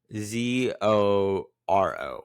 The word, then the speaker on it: Zoro: Z O L O U versus Z O R O. What's the difference? What is the difference? So in Japanese, uh, zolo and zoro are the same thing because the L is pronounced as an R.